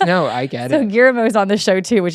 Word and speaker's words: Guillermo: Say his name, Gilmore. I can't say it right, but you know Guillermo.